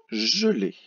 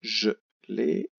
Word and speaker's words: gelé: Le mot suivant, gelé. 2 syllabes, gelé. Ça s'écrit avec un G, attention, le G suivi du E fait le son J. Et le E, accent aigu.